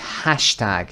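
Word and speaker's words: hashtag: هشتگ انگلیش ما میگیم هشتگ، یعنی استرس رو روی ه میذاریم.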